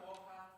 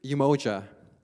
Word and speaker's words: Umoja: So it's not Umoja, and it's not Umoja. Close. So the word is actually Umoja.